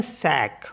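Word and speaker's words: sac: with next word है जैसे एस ए सी इसको पढ़ते हैं सैक और सैक मींस होता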